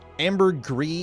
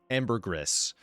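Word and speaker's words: ambergris: Um, amber gree is the French word, I think, that then has an official bastardized English pronunciation of amberress. So, the English word is amberress, which is just English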